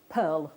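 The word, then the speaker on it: purl: I've brought here, and another name for them is pearl wire, which can be a bit confusing because it's not spelt like pearl, it's spelt P-U-R-L.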